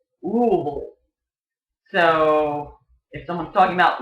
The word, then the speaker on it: Louisville: cities in Kentucky however people from Louisville pronounce it rule so if someone's talking